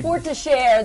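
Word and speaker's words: Forestière: Forestiere, that's how you say it.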